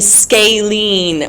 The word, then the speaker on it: scalene: you say that one scalene well you're typing it but I'm asking if you know how to pronounce it you pronounce it scalen that means no sides